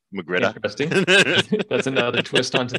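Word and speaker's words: magrittr: So ironically, R, I think the proper pronunciation is ah. So Magritta.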